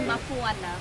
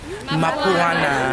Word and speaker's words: Mapuana: Can you say Mapuana? Mapuana. Very good.